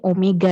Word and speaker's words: Omega: simpelnya Omega atau w tapi dibacanya ini Omega ya bukan penulisannya bukan W begini ya tapi nih Itu jadi Omega kemudian disini untuk percepatan